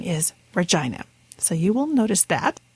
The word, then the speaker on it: Regina: And in fact, in episode number 2, you'll notice I referred to Regina, Saskatchewan as Regina, since I was just becoming familiar with the